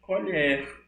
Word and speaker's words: colher: é homografa oi márcia a pronúncia é diferente quando se trata do substantivo é colher quando se trata do verbo eu irei falar com